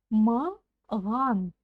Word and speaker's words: маған: Попробуйте сказать махан через букву Х, а затем чуть-чуть звонче произнести букву Х. И у вас получится буква Г. Ой, буква Г. Правильно? Вот, именно ее нам нужно научиться произносить.